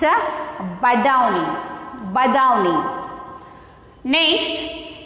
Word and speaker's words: Badauni: So once again, repeating I how to read and how to pronounce it. See here, B A D A U N I. It's a Badauni.